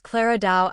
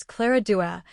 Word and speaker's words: Clara Dao: Coco sometimes mispronounces Clara Dao as Clara Dua.